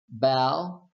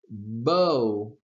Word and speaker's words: bow: Bow as a verb versus bow as a noun. Okay? The noun is pronounced bow.